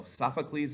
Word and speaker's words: Sophocles: and then there is sophocles the playwright so sophocles is how you say his name and he